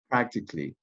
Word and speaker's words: practically: double practice and practically practically you have three syllables letter a is not pronounced okay as you can